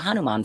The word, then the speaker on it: Hanuman: It was the Hanuman Festival.